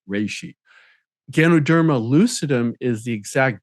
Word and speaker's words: reishi: of the common name which is also the Japanese name and it's actually pronounced something more like reishi Ganoderma lucidum is the